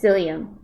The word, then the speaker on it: psyllium: gluten-free important to diabetes and yes maybe I pronounced it wrong death duck but that's it it's psyllium psyllium husk some people take psyllium husk for um